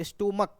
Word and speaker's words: stomach: 2 ही word ऐसे हैं, है ना, जिसका एंडिंग सी एच से होता है, बट उसको सी एच का जो प्रोनाउंसिएशन होता है च नहीं होता है बल्कि क होता है।